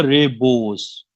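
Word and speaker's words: rebus: ये प्रोनाउंस होगा रेबोस, ठीक है, रेबोस, रेबोस सिक स्टैंटिबस, रेबोस सिक स्टैंटिबस।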